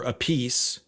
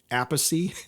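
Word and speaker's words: Appice: forth Carmine apacy or a piece Vinnie Vinnie and Carmine are brothers I think Vinnie pronounces his last name apathy and Carmine pronounces it a piece I'm not sure so I'll call him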